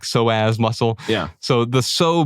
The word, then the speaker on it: psoas: The P is silent, like pterodactyl. Oh, cool. Yeah, like psoas muscle.